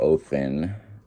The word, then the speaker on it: Odin: paganism the all father odin or othen as it's pronounced as it's supposed to be pronounced was supposed to be